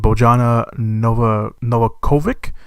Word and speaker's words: Bojana Novakovic: The film is led by Frank Grillo, Iko Uwais from the Raid movies, and Bojana Novakovic. That's how you pronounce her name.